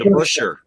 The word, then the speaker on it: DeBusschere: DeBusschere.